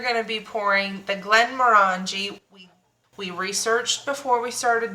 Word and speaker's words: Glenmorangie: today we are going to be pouring the Glenmorangie. We researched before we started this episode on how to pronounce it. This is what multiple sources said, Glenmorangie.